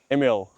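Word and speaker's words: Émile: Emil. Emil.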